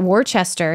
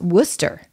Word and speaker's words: Worcester: you find out that warchester is Worcester you know and all these things that are spelled the way that a Canadian would pronounce them is not how you say them so just understanding that